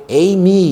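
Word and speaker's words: εἰμί: 우리가 자주 쓰는 동사인요 헬라어로 에미 이렇게 발음하는 동상인데 이것은 우리말로는 무엇이다이이 동사입니다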